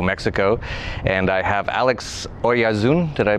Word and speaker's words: Oyarzun: And I have Alex Oyarzun. Did I pronounce that correctly?